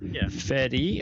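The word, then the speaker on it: Ifeadi: okay so how is it how do you pronounce it that's easy so Fadi okay yeah that's like yeah my picture on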